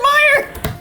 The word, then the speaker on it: Meyer: She does pronounce it Meyer.